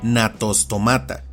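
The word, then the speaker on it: Gnathostomata: Pero aclaro que eso no ocurre con los nombres científicos, por lo que grupos como este se pronuncian y castellanizan como natostomata, con una g inicial tan suave que apenas sí es notoria.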